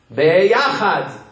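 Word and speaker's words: ביחד: Beyachad.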